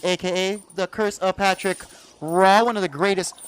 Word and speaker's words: Roy: the curse of patrick raw one of the greatest roy it's real it's it looks like roy but it's it he's french so it's like raw so patrick is that